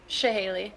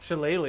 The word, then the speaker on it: Shillelagh: Shahaley. Shahaley. Like the weapon. Wait, weren't we just talking about Shahaleys in another campaign? Shillelagh.